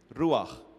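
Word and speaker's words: רוח: And and uh you know if you wan to say it correctly you have to say it like there's a little bit of popcorn stuck to the the palette of your roag you know then when you're trying to to get that little popcorn out n so that's roag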